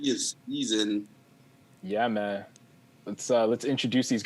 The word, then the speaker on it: CZN: I'm the C in season because it's spelled CZN.